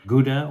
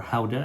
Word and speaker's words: Gouda: You're talking about Jarlsberg, Emmentaler, Gouda, or Gouda, that's how they pronounce it in the Netherlands.